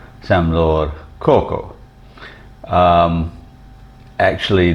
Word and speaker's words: korko: language is called samlore Coco um actually the spelling when it's transliterated into English has a lot more R's in it than actually are pronounced in the khmeri language